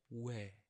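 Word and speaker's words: 웨: And moving on to our next one is we. We. And sounds like the word wet. We, wet, we.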